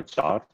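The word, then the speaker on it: Zarr: So we can try to think about the cloud native storage kind of data processing by using the JAR, I think, G-Z-A-R-R, JAR. That's what I pronounce.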